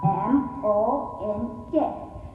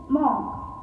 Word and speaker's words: monk: M-O-N-K. We generally tend to pronounce the word is monk, but the correct pronunciation is monk.